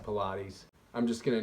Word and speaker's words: Pilates: most recommended are called Pilates it spelled out it kind of looks like pilots but it's pronounced Pilates I'm just gonna name